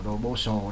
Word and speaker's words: proposal: Proposal, nhấn lần hai.